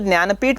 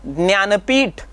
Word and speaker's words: ज्ञानपीठ: तो मराठी भाषेतील ज्ञानपीठ पुरस्कार प्राप्त लेखक, यहाँ पे मैं जब उच्चारण करता हूँ ज्ञानपीठ, हिंदी में उसका उच्चारण हो जाएगा ज्ञानपीठ।